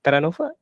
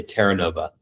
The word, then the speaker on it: Terranova: Is that how you pronounce Taranofa? I love your pronunciation. It sounds almost Italian, but I usually say Terranova.